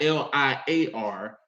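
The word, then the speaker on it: lyre: someone to play the liar liar l-y-r-e not l-i-a-r but l y r e liar also translated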